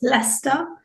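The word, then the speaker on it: Leicester: as Maxine's put in the chat it's actually pronounced leester it's a very strange spelling I I get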